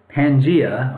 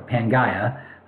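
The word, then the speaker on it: Pangaea: fit look like this Pangia or panga depending on how you want to pronounce it and not only did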